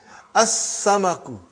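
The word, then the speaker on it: السمك: As-samaku, fish.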